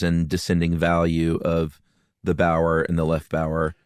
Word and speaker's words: Bauer: right and left Bower b-o-w-e-r like they're in the act of bowing but that's actually a bastardization of the German Bower b-a-u-e-r which means farmer in German like Jack Bauer yeah so it's really